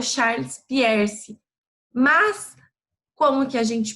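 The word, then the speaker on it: Peirce: fogão nessa apostila de filosofia é o charles pierce mas como que a gente pronuncia tem a pronúncia aqui no cantinho da nossa tela então é charles pires tá bom oi e aí ele era um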